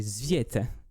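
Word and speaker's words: Tsviet: Dirigé par les Zviet. Ça se prononce vraiment comme ça.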